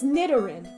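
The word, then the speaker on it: Nidoran: I need to catch an Sorry, it's it's Nidarin. There's no N there.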